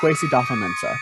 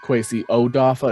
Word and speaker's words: Kwesi Adofo-Mensah: Kwesi Adofo-Mensah. Sounds like they cut off that first O. So it's not Kwesi Odafa. It sounds like it's Kwesi Adofo-Mensah.